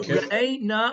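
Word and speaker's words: ראה נא: it's the correct way of pronouncing it. Yes. Okay. So re'eh na va'onyenu.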